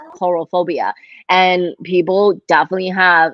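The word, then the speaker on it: coulrophobia: yeah so it's spell c-o-u-l-c-o-u-l so but it's pronounced coral phobia and people definitely have like it's a debilitating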